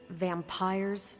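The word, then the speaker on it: vampyres: said they were vampires vampires with a why pronounced exactly the same as vampires I suppose that was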